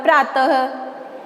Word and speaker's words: प्रातः: विसर्ग का उच्चारण अह के रूप में होता है, जैसे हमने बोला प्रातः, ठीक है, तो जो विसर्ग का उच्चारण है वह अह के रूप में होगा।